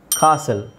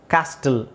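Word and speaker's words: castle: ಅಲ್ಲೂ tea silent ಆಗಿರುತ್ತೆ ಕಾಸಲ್ ಕಾಸಲ್ ಕಾಸ್ಟಲ್ ಅಂತ ಹೇಳಲ್ಲ ಕಾಸಲ್ ಅಂತ ಹೇಳ್ತಾರೆ ಅದನ್ನ ಓಕೆ ವಿಸಿಲ್ ರೆಸಲ್ ಸುನಾಮಿ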